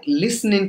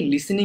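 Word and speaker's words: listening: কি লিখছেন I like লিসনিং music এখানে অনেকে লিসনিং বলি উচ্চারণ হবে লিসনিং ওকে লিসনিং লিসনিং আমার সাথে ট্রাই করতে Perth লিসনিং লিসনিং okay লিসনিং নট লিসেনিং this is লিসনিং আর গান শোনার ক্ষেত্রে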